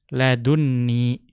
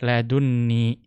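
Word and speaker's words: لدني: Ya, maka perhatikan di situ ladunni, ya ladunni dibaca tasydid karena nun yang ada pada ladun bertemu dengan nun wiqayah. Maka menjadi ya double nunnya.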